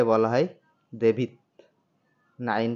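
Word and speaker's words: два: আদিন ওয়ান কে বলা হয় আদিন আমার সাথে উচ্চারণ করুন আদিন আদিন টু কে বলা হয় দোভা দোভা দোভা টু কে বলা হয় দোভা থ্রি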